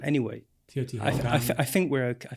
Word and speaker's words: Teotihuacan: I think that's very good, but I'm told by my Mexican colleague that even Mexican scholars don't always pronounce it quite. There's Teotihuacan, which she tells me is better, but you hear Teotihuacan. Anyway, Teotihuacan.